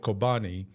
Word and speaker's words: Kobani: There's a town called Kobani. It rhymes with Chobani, the yogurt.